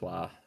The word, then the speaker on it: Roy: I just find it crazy that Nicholas Wah or Nicholas Roy, whatever you want to call him, but he I say can Roy net. because that's how it's spelled. Not.